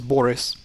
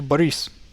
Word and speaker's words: Boris: You guys pronounce this name as Boris. This name is actually Boris. The emphasis is on E, or well, it's I, but it's not I. It's Boris.